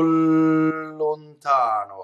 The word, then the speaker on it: lontano: Single L, I don't let the tip of the tongue stay while my vocal cords vibrate. O lontano. See? O lontano. O lontano. See, I let the L trip me up for a second.